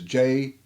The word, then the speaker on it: Jesus: His name is J-E-S-U-S. And it's pronounced and sounds and says, Jesus.